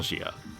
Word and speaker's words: Gnosia: it should be pronounced Gia but considering the word linguistic Origins I'm going to pronounce it without the G and just say no